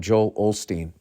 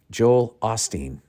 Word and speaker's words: Joel Osteen: Joel Osteen goes down I've been calling him Joel Olsteen you guys never corrected me and maybe thought I was just deliberately saying his name wrong but I thought there was an L in there Joel Osteen uh the